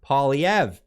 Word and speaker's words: Poilievre: against a new conservative party led by Pierre Poilievre.